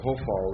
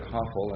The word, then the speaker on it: Hofal: The Hafal is spelled like you see there, or I should call it the Hofal, really, because that's a Kametz Ketuf, isn't it? For some reason I learned it Hafal, and that's really not how it's pronounced.